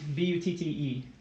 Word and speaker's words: butte: What, is it pronounced butt or butte? B-U-T-T-E. Is that like a land formation? Yeah, with an E, it's butte.